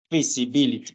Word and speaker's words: feasibility: Entonces vamos a hablar de feasibility. Esa es la pronunciación.